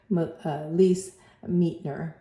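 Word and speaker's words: Lise Meitner: heard her name so leas meeter or miter that's how you pronounce it leas miter so um H so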